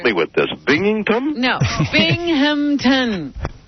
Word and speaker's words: Binghamton: Are you coming up to Binghamton?